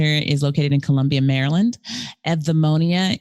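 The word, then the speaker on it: Eudaimonia: located in columbia maryland edmonia even though it sounds like eevee it's spelled eu and epnemonium means human flourishing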